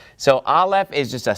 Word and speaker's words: Aleph: And so let me teach you the pronunciation of Aleph. I just did. It's actually silent. So all this work to learn your first letter, and it turns out it's silent. It doesn't make any sound.